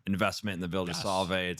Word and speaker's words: Solvay: Solvay proper.